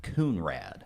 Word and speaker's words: Conrad: The statue's got a name, and it's spelled Conrad, but the county really wants you to know that it's pronounced Coonrad.